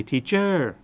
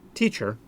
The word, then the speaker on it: teacher: A lot of times Thai people will say teacher. Teacher, the accent on the second syllable. That is not correct. The accent in teacher is on the first syllable.